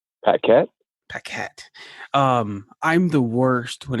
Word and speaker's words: Paquet: Paquet.